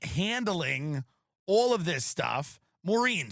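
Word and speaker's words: Maurene: Um so Maline Comey is the person who's like handling all of this stuff. Moren, sorry not Meline.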